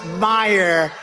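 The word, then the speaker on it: Meijer: a loser a loser the i j e r but they pronounce it meyer the hell kind of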